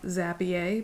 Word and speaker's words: Zapier: an account at Zapier, or what I like to call Zapier because my last name is, I'm Cajun French, so I-E-R, it's gotta be pronounced yay, all right?